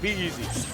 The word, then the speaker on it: PeZ: Pikz, and you said pronounced PeZ. I think it's PeZ, right? It is. Okay, PeZ.